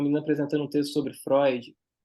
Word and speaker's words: Freud: cara tinha uma menina apresentando um texto sobre Freud e ela ficava falando porque segundo Freud Freud